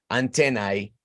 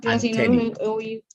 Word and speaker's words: antennae: Antena es singular, antennae es plural. Pero también escucho gente que dice antennae.